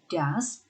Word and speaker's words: does: Hati-hati juga dengan cara membacanya, walaupun tulisannya mirip, tapi yang ini dibacanya seperti huruf A, does, sedangkan ini dibacanya goes.